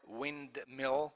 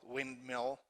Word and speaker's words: windmill: that is not pronounced or windmill windmill windmill windmill usually that is omitted the technical term and